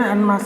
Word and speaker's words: en masse: इसके अलावा एनमास से इसका प्रोनाउंसिएशन एनमास है, ये स्पेनिश वर्ड है, एनमास यस स्पेनिश वर्ड है।